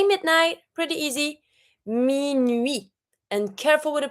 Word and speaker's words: minuit: example, like in 10 minutes, you're going to say 10 minutes. This is not minute. To say midnight, we say minuit. So we don't pronounce the T, but we do pronounce the two vowels.